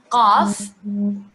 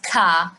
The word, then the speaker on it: qaf: Qaf. This is the right way to pronounce the qaf. Qaf, not ka, not ga. Qa, qaf.